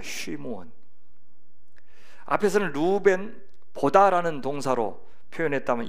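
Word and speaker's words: שִׁמְעוֹן: 시므온, 히브리어 발음하면 쉬무온입니다. 쉬무온.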